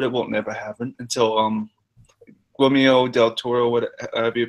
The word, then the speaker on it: Guillermo del Toro: I'd love it to happen, but it won't never happen until Guillermo del Toro, whatever you pronounce his name.